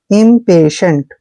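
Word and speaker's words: impatient: हैं इम पे ऐसे जब भी टी आई ई तीनों लेटर इकट्ठे आते हैं तो उसका उच्चारण हम श और ए की मात्रा करते हैं एन को आधा न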